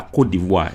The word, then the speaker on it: Côte d'Ivoire: He says the pronunciation is La Côte d'Ivoire in French.